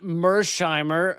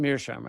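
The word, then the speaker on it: Mearsheimer: And here is from John Mshimer. Uh, or is it pronounced Mirshimer? I think it's Mhimer.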